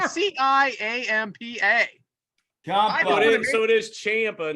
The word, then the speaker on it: Ciampa: name champa champa spelled c-i-a-m-p-a so it is champa not champa somebody called someone to say champa someone so we're pronouncing it right it's champa all right i just didn't want to look